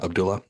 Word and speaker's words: Abdullah: Yeah, Abdullah.